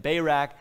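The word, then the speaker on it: Barak: bayrak by the way this is probably something closer to deborah and barack you know but i'll just use the american pronunciation that i was raised with and say deborah and bayrack but deborah calls bayrack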